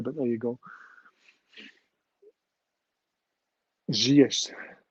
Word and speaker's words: Ziyech: Sorry, how you pronounce his name? Ziyech. I thought it looked like Zurich, to be fair, but there you go. Ziyech.